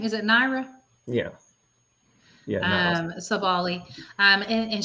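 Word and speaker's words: Nyara: do you say her first name is it naira yeah yeah sabali um and she they both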